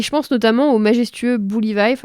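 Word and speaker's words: Buliwyf: Et je pense notamment au majestueux Bully Vife, alors ça se prononce plus ou moins comme ça. C'est pas l'orthographe le plus évident du monde, donc on va dire Bully Vife, c'est très bien.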